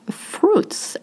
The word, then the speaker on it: fruit: Fruit is pretty hard to say because you have two sounds. You have U, I. Of course, it is a little hard, especially the U, which is French, very French sounding.